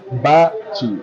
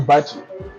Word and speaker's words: Bacci: changed so yeah uh yeah so it's a Bachi it's pronounced Bachi yeah you he it right guysi not the